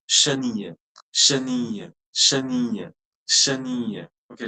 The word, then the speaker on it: chenille: But it's not chenille, madam. Your Okay. pronunciation will end on with the I, I found rolling I only. Okay. chenille. The last E will be totally silent.